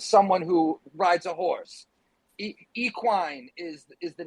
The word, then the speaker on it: Equine: So the word I know in America, people say equine instead of equine. So people are probably going to mispronounce it throughout the whole life of the product.